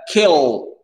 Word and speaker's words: kill: Et kill, le i, il est court, Hammer.